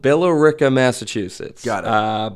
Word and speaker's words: Billerica: I am from a place called Billerica, Massachusetts. Got it. But I had to try really hard to pronounce that because everyone there just says Bricka.